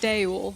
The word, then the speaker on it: Duel: We just called him Jewel. We know it says Duel. Yeah. We've heard it is pronounced Daewul, so we can read.